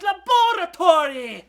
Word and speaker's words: laboratory: Finally, I, Walter, a countdown genius, will be giving you all what you want, an episode on Dexter's Laboratory! Actually, it's pronounced laboratory, and there's no need for your